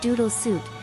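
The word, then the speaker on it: ドゥードゥル・スート: ラフビズミアニス・ベーソショック・ザ・ハートオアシスメーカドゥードゥルスート Trey's Paint the Roses spell is pronounced Doodle Suit, while Paint the Roses is the spell's hidden meaning.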